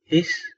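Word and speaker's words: ich: إيش لازم أن تطلع الهوا كده، كانوا بيعلمونا إن إحنا نحط قلم تحت لساننا وننطقها إيش، لازم تطلع صوت الصفارة البسيط دوت إيش. جميل. وفي ناس بتنطقها إك وإخ، أنا قابلتهم كتير، لكن الهوخ دايتش بيقولوا إيش.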